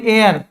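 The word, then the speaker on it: heir: উচ্চারণটা হচ্ছে হর্স কিন্তু এখানে তো আমার হ এর উচ্চারণটা হচ্ছে না এখানে হচ্ছে অনেস্ট আওয়ার অনারেবল এটাকে আমরা বলি এয়ার এয়ার বাংলা মানে হচ্ছে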